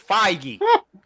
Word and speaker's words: Feige: It's Feige. Like, how you can't pronounce Feige?